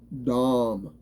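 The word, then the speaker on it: דם: the Hebrew word dumb Dom it is it is it is spelled d-a-m but it's it's pronounced like a b-a-w-m that's what the pronunciation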